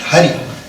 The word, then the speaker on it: Hari: Put together is Hari. И поставить их вместе получается слово Хари. H-A-R-I. То есть Х-А-Ар-И. The syllable Ha in the word Halam И слог